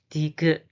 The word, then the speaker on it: 디귿: The pronunciation is da, da, da. The name is 디귿, 디귿, 디귿, 디귿, 디귿.